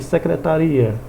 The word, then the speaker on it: secretaria: o significado da palavra no caso secretária e secretaria observe a sílaba tônica a tonicidade a forma como ele é pronunciada mudou o significado óbvio porque também o